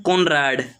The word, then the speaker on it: Conrad: उसे हम बोलते हैं कोनराड। क्या बोलते हैं? कोनराड। CONOROD, कोनरॉड। इसे हम बोलते हैं कोनरॉड। आप कुछ भी प्रोनाउंस करें, कोनराड या कोनरॉड, दोनों ही सेम है।